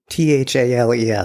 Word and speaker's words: Thales: Thales, yes. You might pronounce it as Thales.